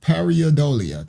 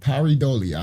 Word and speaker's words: pareidolia: his website, features a pareidolia. That's what it's called. Pareidolia. I think that's how they say it.